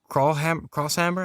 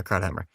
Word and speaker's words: Krauthammer: It was Charles Crosshammer, I think I'm pronouncing that Krauthammer, right. yeah, Yeah, Krauthammer.